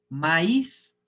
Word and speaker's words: maíz: Maíz es aguda porque tiene la sílaba tónica en la última sílaba.